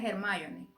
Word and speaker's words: Hermione: Así se escribe, así como la de como la de Harry Potter. Para mí se pronuncia Hermoni, que era hija de Elena.